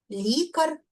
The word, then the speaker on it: лікар: Лікар лікаря. Наголос так само падає на корінь.